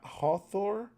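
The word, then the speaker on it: Hafþór: It's pronounced ha hawthor. Hawthor. The letter is pronounced like the English th.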